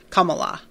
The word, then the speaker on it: Kamala: um Rowan says uh Kamala all the a sounds are pronounced the same way okay Kamala um Lauren says I